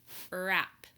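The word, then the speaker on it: wrap: same beginning sound as rap rap once again WR beginning WR has a silent consonant that W is silent the R makes the air sound in rap rap begins with the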